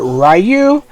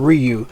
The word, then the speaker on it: Ryu: K and Ryu uh I know people pronounce it rayu uh in the US in the Japanese they they they pronounce his name Ryu uh Ken is Ken